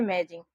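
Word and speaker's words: amazing: जी इसको पढ़ते हैं अमेजिंग। तो यहां पर देखिए ए है ए की मात्रा के रूप में इसका उच्चारण हुआ है।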